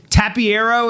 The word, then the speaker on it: Tapiero: Tapiero, is that how I say it?